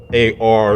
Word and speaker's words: Ar: moabites they had a city a city named ar and this city is mentioned in scripture in numbers chapter 21 verse 15. this is what we find the more by city ar and it is pronounced ar of moab there was a city of the